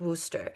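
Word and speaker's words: Worcester: But it's pronounced Worooster.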